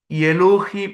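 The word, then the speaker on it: אלהים: ഇനി ദൈവം ദൈവത്തിന് ഹെബ്രായ ഭാഷയിൽ പറയുന്നത് എലോഹിം എന്നാണ് എലോഹിം ആണ് ദൈവം ഇനി എലോഹിം എന്ന് എങ്ങനെ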